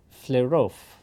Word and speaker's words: Flerov: looks like E is in Russian, in his name, pronounced like yo, like the beginning of yogurt.